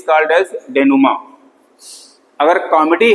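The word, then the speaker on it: dénouement: called S नमा देखो इसको नमा पढ़ते हैं लिखा स्पेलिंग य है ध्यान देना ठीक डी एन ओ यू ई एम ई एन टी नुमा ग्रीक वर्ड है जिसकी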